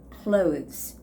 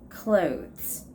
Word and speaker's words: clothes: So when we actually say this word, you don't necessarily have to make the sound of TH. So it's like clothes, clothes, okay?